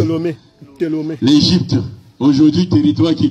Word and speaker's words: Ptolémée: Le pasteur avait dit, pasteur, c'était encore qui? Ptolémée. Ah, j'avais mal prononcé. Ptolémée.